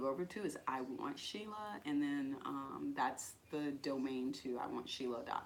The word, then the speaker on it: Sheila: Lea she Leia no it's just like two syllables one two she loved she loved okay join Instagram is Sheila and this hu